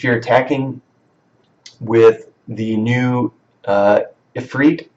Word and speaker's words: Ifrit: If you're attacking with the new Ifrit, I think is how you pronounce it, or Ifrit, Efrit, I think it's Efrit. It's kind of strange how you pronounce it. It's not how I would think to pronounce it, but let's say Efrit for now.